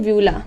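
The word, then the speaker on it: uvula: इसे हम लोग क्या बोलते हैं, व्यूला बोलते हैं। यू भी होता है पर यू साइलेंट होता है, इसे हम लोग बोलते हैं व्यूला, ठीक है।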